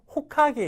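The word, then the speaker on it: 火影: 까다로운 것 중에 하나입니다 그래서 불 하자를 이거를 호로 읽는다는 거는 진짜진짜 레벨이 높은가이 정도를 읽을 수 있다라면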